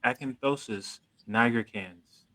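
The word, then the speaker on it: acanthosis nigricans: a sign of pre-diabetes and i'm going to pronounce this correctly it's called acanthosis niagara cans ah yeah i could definitely say i've seen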